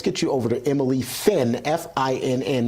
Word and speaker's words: Finn: But now let's get you over to Emily Finn, F-I-N-N, not F-L-I-N-N.